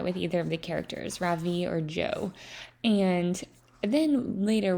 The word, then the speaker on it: Ravi: It's pronounced Ravi with a soft Ra and a strong V. In Sanskrit, it means the sun. In America, people call me Ravi with the stress on the first syllable.